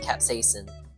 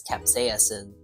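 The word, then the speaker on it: capsaicin: it by the way it's not capin it's Capas in but you know what's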